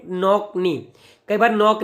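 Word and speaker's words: knock knee: बीमारी को बोलते हैं नॉक नी। कई बार नॉक नी भी लिखा होता है, नॉक नी, क्या बोलते हैं, नॉक नी, के साइलेंट होता है बेटा इसमें।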